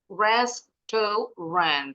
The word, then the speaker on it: restaurant: Restaurant. This word has 3 syllables, but when speaking, the native English speakers pronounce it with only 2 syllables. So they pronounce it as restaurant.